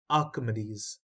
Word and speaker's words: Archimedes: Rose spiral of Archimedes this is pronounced as Archimedes now these are the